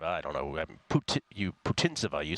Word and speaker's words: Putintseva: Putintseva is just kind of a backboard along the baseline.